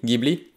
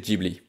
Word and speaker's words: Ghibli: soufflant depuis le sud la prononciation italienne serait ghibli mais au japon on constate que le non est systématiquement prononcé jebli en europe on trouve les deux prononciation qui coexistent les deux sont donc possibles et finalement c'est pas